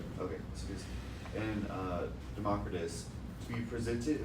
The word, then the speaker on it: Lysippus: Okay, Lysippus, and Democritus, to be presented in the next chapter, is an outstanding type of such reductionism in ancient Greece.